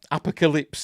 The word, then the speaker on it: apocalypse: Horsemen of the and I I pronounce apocal no apocalyps that's so I think he like Calypso so pronounce it apocalyps apocalyps now uh has